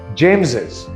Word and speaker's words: James's: Now, this is pronounced James's.